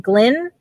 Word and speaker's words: Glynn: Dominic, and if I say it right, is it Glynn?